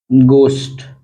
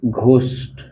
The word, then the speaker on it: ghost: अन्यथा क्या होता है, जैसे या तो ये होता है या फिर ग होता है, जैसे कि GHOST, तो इसको क्या बोलते हैं? गोस्ट, न कि घोस्ट।